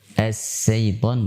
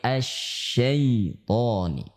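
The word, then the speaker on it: الشيطان: Sekali lagi, tidak boleh dibaca as-syaiton tapi asy-syaitoni.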